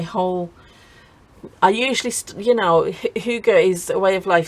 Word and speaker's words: hygge: Now if you don't know what Hygge is, it's spelled Hygge, but it's pronounced Hygge, and it's a Danish, it's like a way